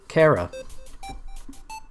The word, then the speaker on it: Chara: I don't think there's an official pronunciation, but I'm going to name the fallen human Chara, or as I pronounce it nowadays, Kara.